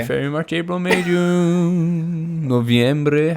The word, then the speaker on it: noviembre: February, March, April, May, June, Noviembre. How do you say November in Spanish? Novembre.